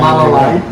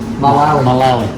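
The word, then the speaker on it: Mullaley: Not Malalay. Malali.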